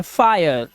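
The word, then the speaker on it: fire: आप देखिए जब किसी वर्ड में आई के बाद आर ई आ जाए तो आई का उच्चारण आय हो जाता है, आय, ठीक है। इसी तरह से ये है फायर, फायर, देखो वहां पे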